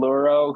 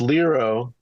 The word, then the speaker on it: Liiro: I'd like to introduce you all to luro who is actually a contestant in season three